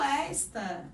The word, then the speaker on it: esta: E o esta é justamente o pronome demonstrativo. E até a tonicidade é diferente. A sílaba tônica é o esta. Então, verifica se a sílaba tônica é a primeira sílaba.